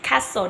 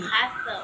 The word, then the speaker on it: castle: Castle, no T. Castle.